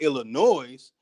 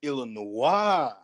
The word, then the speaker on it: Illinois: But when people look at Illinois, it doesn't click to make you say that's not Illinois, that's Illinois.